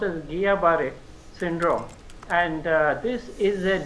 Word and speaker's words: Guillain-Barré: See, it is actually pronounced as Guillain-Barré Syndrome, and this is a neurological complication of some infections which have already been mentioned by my co-panelists, especially Campylobacter jejuni.